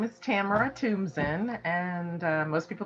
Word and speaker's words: Thumbtzen: how to um tell the audience how to pronounce that beautiful last french last name okay okay well my name is tamara toomson and most people call me my friends